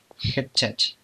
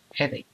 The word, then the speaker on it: headache: Hedachache. ¿No? ¿Cómo se dice? Headache.